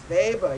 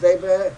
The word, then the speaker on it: Weber: was Karen Max weather Max baber yes apologize for the German pronunciation but this is the way I learned Max Weber unfortunately I have to